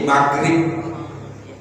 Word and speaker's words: maghrib: Kita sholatnya sholat maghrib, kita bukan tapi maghrib, ya kan? Gitu. Padahal itu tulisannya GH. Kan tulisan kayak gini ya. Gini ya. Bacanya maghrib. Padahal kan H ini G dan H itu sama dengan Rai. Jadi maghrib.